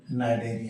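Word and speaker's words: Cnidaria: दूसरा नाम है नाइडिया यहां भी लिखते हैं हम कनाड एरिया सी साइलेंट है प्रोनंसिएशन करेंगे नाइडर सबसे पहले तो हम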